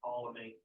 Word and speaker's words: Ptolemy: when we go through the presentation you see Colony up there yes I pronounce it Ptolemy okay that's what it's referring to so he